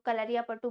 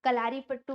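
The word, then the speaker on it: Kalaripayattu: ठीक, इसे अलग अलग तरह से लोग बुलाते हैं, कुछ लोग कलरिया पट्टू बोलते हैं, कुछ लोग कलारी पट्टू बोलते हैं, तो अलग अलग नामों से इसे प्रोनाउंस किया जाता है, ये कह सकते हैं।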